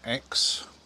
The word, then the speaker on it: Exe: And that was the River X. E-X-E it's spelt.